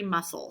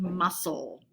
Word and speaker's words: muscle: through next is voluntary muscle say it with me voluntary muscle notice the c is silent that's a noun muscles